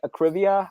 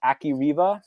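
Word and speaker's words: Akrivia: I've heard I pronounce it Acrivia. I've heard a certain bearded, bespectacled professor who likes to make YouTube videos pronounce it as Akiriva. So I don't know. I think Acrivia is where we're going to be, but there's that alternate pronunciation.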